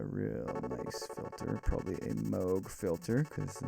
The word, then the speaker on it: Moog: Probably a Moog filter because the Moog filters are nice. And yes, I said Moog and not Moog because it is Moog and not Moog. Important to know because it's a person's name.